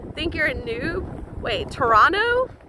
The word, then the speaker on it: Toronto: you're a noob wait toronto toronto you don't pronounce the t oh oops all right